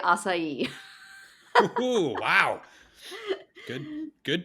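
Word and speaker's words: açaí: okay interesting what's been hot I'm gonna say asai wow good good pronunciation I mean asai BS don't really exist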